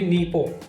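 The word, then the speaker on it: Nippon: हैं इसी तरीके से जापान में भी नीपों करके ही वो प्रोनाउंस करते हैं इसी तरीके से जर्मनी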